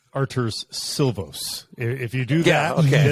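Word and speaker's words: Artūrs Šilovs: on this show just remember to pronounce it arter's silvos if you do that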